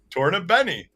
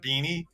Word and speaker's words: Tornabene: Tornabene. Yeah, Tornabene, not Beanie. Tornabene. Okay. Adam's right on the Tornabene pronunciation.